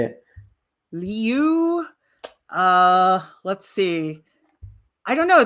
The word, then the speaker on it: Liu: They just like cannot like it's but technically in Chinese it's Liu, but Really? nobody can say that. So I'm like, it's Liu, Wait, right? teach me how to say it. How do you say it? Liu. Leo, just like that? Kind of it's a little bit faster.